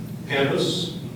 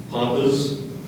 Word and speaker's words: pampas: There are a couple of other pronunciations I want to give you. Pampas, Pampas, or Pampas. Can you use the word in a sentence? It's the third pronunciation that makes it a homonym, so that's why I was clarifying that.